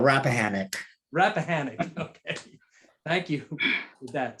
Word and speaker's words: Rappahannock: being deployed there and i believe the pronunciation is rap hana rappahannock i will help you out rappahannock rappahannock okay thank you